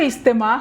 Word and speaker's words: ইজতেমা: নিব উৎপত্তিগত অর্থ বিশ্ব ইজতেমা নামের দুটি শব্দের প্রথমটি বাংলা দ্বিতীয়টি আরবি শব্দ যা উর্দু ফার্সি হিন্দিতেও ব্যবহৃত হয় ইজতেমা শব্দের অর্থ সম্মেলন এর বানানো উচ্চারণ ইজতিমা বাংলায় ইজতেমা বা এজতেমা লেখা হয় বিশ্ব ইজতেমা হলো বিশ্বসভা